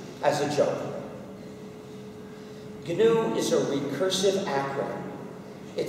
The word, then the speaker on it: GNU: than that you see gnu is the most humor charged word in the english language used in countless wordplays because according to the dictionary it's pronounced new the g is silent so every time you